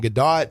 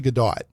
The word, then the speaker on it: Gadot: He was saying Gdat. I was like let me go look this up. It's actually Gdat.